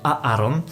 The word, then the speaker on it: Aaron: 2 samogłoski a tutaj mamy dwie szkoły jeśli chodzi o wymowę tego imienia jedni twierdzą że powinniśmy zaznaczyć dwie samogłoski imię powinno brzmieć aaron druga szkoła mówi o tym by druga samogłoska po prostu być wdzięczna i wymieniać im jako ale ja osobiście należę